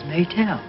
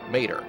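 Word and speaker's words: Maetel: The Japanese language has no true L sound. The spoken sound is somewhere between an R and an L. Whenever a non-Japanese word is spelled in their alphabet, the R is used in place of the L, which can sometimes cause trouble for translators.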